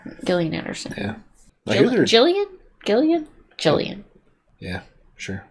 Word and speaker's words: Gillian: like Gillian Anderson yeah Jillian Gillian Jillian yeah sure Jillian was G though it's weird soft G well good news about